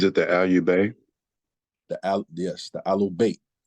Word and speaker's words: Ahlul Bayt: Yes, the Ahlul Bayt. Right, they call it the Ahlul Bayt, right? The Ahlul Bayt is spelled AHLAL-BAYT.